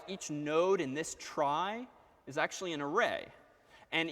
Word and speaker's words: trie: So this is a data structure called a trie, T-R-I-E, which is inherited from the word retrieval, which is not pronounced retrieval, but that's what the world calls these things, tries, T-R-I-E.